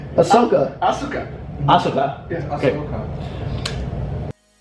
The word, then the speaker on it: Ahsoka: Asuka? Not Asuka. Ahsoka. Ahsoka. And now... It's like you through so much. And her name is Ahsoka Tano. She wields... The freak? That's not her name. Ahsoka.